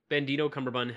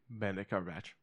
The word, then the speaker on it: Benedict Cumberbatch: I don't think I've ever seen anything Benedito Cumberbatch has ever been in that has been bad. Benedict Cumberbatch.